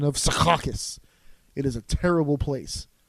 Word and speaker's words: Secaucus: other others around me suffer as well okay Secaucus that's exactly as you should pronounce it like that because I'm the map if you like if you're on the train the train goes down rounding at Secaucus now that's way too tame they should really